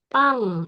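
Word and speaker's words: 빵: adalah yang seringang P Pang ini sang b b dia terbaca P jadi Bacanya adalah pang pang artinya rotiopang biasanya dikonsumsi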